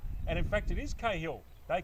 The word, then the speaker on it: Cahill: And he forwarded through me an excerpt of a text he had with Andrew Cahill, and they pronounce it Cahill, as in Tim Cahill, the former Australian football player.